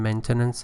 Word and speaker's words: maintenance: Remember the shift in pronunciation, maintenance and maintain.